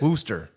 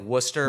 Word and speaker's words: Worcester: more like Worcester, but Worcester. we'll give the credit for Worcester, it. but it's not Worcestershire like it looks like.